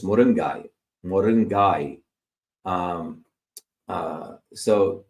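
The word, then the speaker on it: முருங்கை: Americans may say moringa or westernist but if you put a Tamil accent it's moringai mingai um uh so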